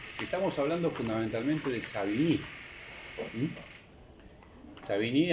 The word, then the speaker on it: Savigny: Savigny, a pesar de que tiene una pronunciación aparentemente francesa, es alemán.